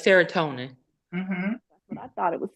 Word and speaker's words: serotonin: n how do you pronounce that Joanne seron spell it again s e r o n t i n yeah it's serotonin what I thought it was serona but I wanted to make sure because it